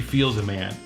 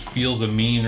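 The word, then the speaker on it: Fils-Aimé: because it comes from my good friend, Reggie Feels a Man. And that's the way you pronounce his name because he told me directly. And people always think it's Feels a Mean or something like that, but it's not.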